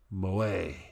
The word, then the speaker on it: moe: Also used to refer to the culture of entertainment centered around characters who possess such traits, pronounced moe.